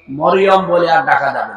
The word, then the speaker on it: মারিয়াম: না, তাহলে গুনাহ হবে, মারিয়াম বলা যাবে। এই কথা বুঝতেছে? কি বলা লাগবে? কারণ এই শব্দটা আল্লাহ কোরআনে দিয়েছেন, একটা সূরায় নাযিল করেছেন, সূরা মারিয়াম। আপনার 40টা নেকি হবে এই শব্দটা উচ্চারণ করুন। মিম র ইয়া মিম, মারিয়াম, 40টা নেকি পাবে না। যদি মরিয়ম বলে 40টা গুনাহ হবে, কারণ অর্থ বিকৃত হয়ে গেছে।